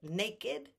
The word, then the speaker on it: naked: ever virgin blessed Mary but naked and blessed are the only ones blessed but naked is the one that's always the Ed that has the ked the rest are the T okay I hope I